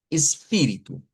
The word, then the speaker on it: espíritu: espíritu, teniendo en cuenta que la vocal tónica es la pi, de aquí, espíritu, entonces u espíritu, si separamos las sílabas vendrían siendo así.